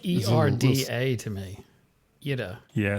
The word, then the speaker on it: Ira: As in IDA, just IDA. But spelled phonetically, IRA, but Ida. You can hear it Ida, slightly. and- There's a little mini rolled R in there. Sounds like ERDA to me. Ida.